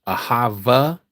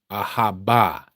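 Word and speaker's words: אהבה: Ahava is not the pronunciation. That is Yiddish. Ahaba. Ahaba is the true pronunciation.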